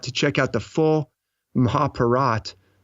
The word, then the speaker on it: Mahabharata: epic called the Mahabharat spelled maja it spelled Mahabharata and you may that's how I would kind of like provided if I didn't and I don't even know if I'm pronouncing a rapid I'm told they say Mahabharat which is this fantastic